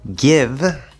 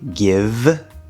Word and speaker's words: give: possible connection so here give right which is the second vowel sound right give even though that has a silent e this is an exception to that spelling rule we're gonna say give we're going to ver